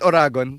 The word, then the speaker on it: Oragon: Is it Oragon? Tama yeah.